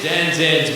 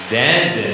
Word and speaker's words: Denzin: Oh, it's Denton's birthday. So on the... Oh, well, okay. Denton, not Denton. I know how to pronounce my D's and T's.